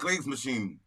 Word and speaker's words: Kriegsmaschine: How do you pronounce that? Kriegsmaschine.